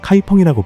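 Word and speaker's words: 開封: 진화 발음으로는 카이펑이라고 불리지요.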